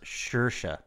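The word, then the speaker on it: Saoirse: The name is pronounced Shersha.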